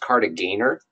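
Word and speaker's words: Kartagener: wasn't French so they'll G is hard in German yeah so that's that's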